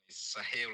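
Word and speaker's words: Sahel: Sahil Alliance.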